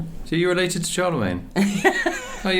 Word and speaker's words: Charlemagne: It's 800 Charman Charman. So it is Charlemagne.